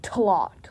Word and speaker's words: TLOT: it as TLOT, and we just pronounce it as a word, so it sounds like TLOT, like plot, but with a T.